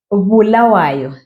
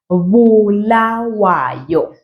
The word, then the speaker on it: Bulawayo: And the city of Bulawayo. Pronounce it just like that. Bulawayo.